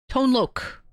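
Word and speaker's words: Tone Lōc: Tone lok. My bad. It's pronounced Lok. Loc is pronounced Lok.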